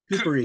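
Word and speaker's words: Kupari: And he has written with other authors, Mike Kapari. How do you is that the Dead Yep, Six? Is that how you say his name? Coopery.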